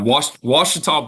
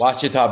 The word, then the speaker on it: Ouachita: So how do you pronounce the school again? I tried several times. Yeah. Ouachita Baptist. Ouachita Baptist.